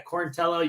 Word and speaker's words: Quarantillo: But yeah, Quarantillo, you say it great.